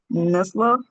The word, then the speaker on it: nestle: And we pronounce similarly, castle, hassle, nestle, okay? Castle, hustle, nestle, okay? Remember, we don't pronounce the T.